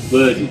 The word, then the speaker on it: Bedug: Indonesia, dan kami menyebutnya Bedug. Pemandu wisata: Nama gendang ini adalah Bedug, karena pengucapannya terdengar seperti gali gali, Bedug Nama gendang ini adalah Bedug, karena bunyinya seperti gali gali gali, Bedug.